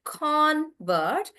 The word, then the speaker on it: convert: So when he's a convert as a person, we pronounce that as a noun, and that's why we say convert. However, when he is doing the action of converting, then we say the convert is converting. So then the stress is on vert.